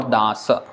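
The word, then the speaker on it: দাস: of it does or dasa in Sanskrit so in Bengali this would become to beat das and the - sometime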